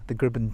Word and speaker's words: Gribbin: To the right is the Gribben Daymark, as it's called, spelt Gribbin.